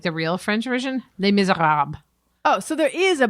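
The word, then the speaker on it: Les Misérables: If you were to say like the real French version, Les Miserables.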